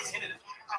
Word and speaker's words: tinnitus: fucking radiologist, I went to get tinnitus.